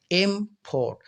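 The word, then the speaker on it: import: कि जोर लगाते हैं जैसे एक वर्ड है आई एम पी ओ आर टी एम पोट तो याद रखें आप अगर मम पर जोर लगाते हैं इम पोट तो पोट को जो है आराम से प्रोनाउंस करते हैं ज्यादा जोर नहीं लगाते तो एम पोट तो एम पर ज्यादा जोर लगाया तो इसी को कहते हैं स्ट्रेस अब यहां पर सिलेबल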